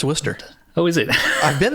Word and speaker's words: Worcester: never been to and it's probably not even pronounced wer it's probably pronounced war sester no it's Worcester oh is it I've